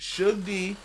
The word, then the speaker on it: Suge D: aw dark my man Su d That's how you properly say it sug d uh or sugar dunkerson